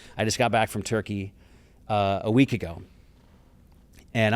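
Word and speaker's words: Türkiye: some pretty remote places or I should say Turkey because I I had to agree to pronounce it by its new rebranded name. Turkey is not Turkey, it's Turkey.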